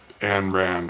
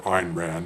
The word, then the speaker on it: Ayn Rand: the book the fountainhead by anne rand or einrand depending on how you pronounce it um i'll have